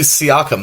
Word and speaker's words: Siakam: Absolutely, Siakam. That's how you say it.